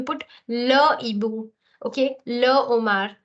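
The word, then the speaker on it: homard: it is Ash aspir the owls the lobsters here L Omar so the D here is silent okay L Omar so again aspir but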